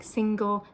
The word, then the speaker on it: single: everything as an sound even though you should pronounce the G so for example in